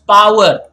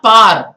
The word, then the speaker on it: power: I always like it when students pronounce it as power. I have said that previously as well. Not par. Par is P-A-R. It's better pronounced as power, not par.